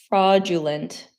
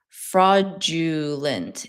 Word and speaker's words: fraudulent: But when you say fraudulent, the D turns into a G sound. Fraudulent. It's not fraudulent.